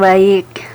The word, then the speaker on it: Baiq: Iya, bacanya biasa saja, Baik.